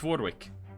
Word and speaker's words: Vordvik: No, it's Vordvik. It's pronounced with a V.